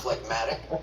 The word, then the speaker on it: phlegmatic: The G is silent in its root word, but not in this adjective, meaning stolid and slow-moving.